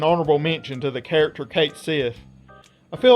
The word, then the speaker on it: Cait Sith: insisted this character was actually supposed to be pronounced as Cat-Shi, or Cat-Shi, since that's closer to how it's pronounced in Japanese. That all turned out to be incorrect though, since his name is pronounced as Cait Sith in Final Fantasy VII Rebirth, and Square Enix